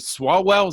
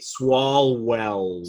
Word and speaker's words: Swalwell: Eric, is it Swalwell? Is that how you say his name? Who, by the way, say it with me. Swalwell.